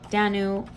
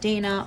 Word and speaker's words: Danu: queen of the fairies danu or dana or donna um there are many different pronunciations um and her people